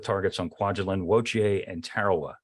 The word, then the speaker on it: Tarawa: on Kwajalein, Woche, and Tarawa. Not Tarawa, but Tarawa, I guess is a more, is a more appropriate pronunciation.